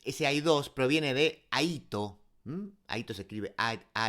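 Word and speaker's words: αἴθω: Aquí nos recuerda que ese hay dos proviene de Aito. Hm. Aito se escribe a a i t h o.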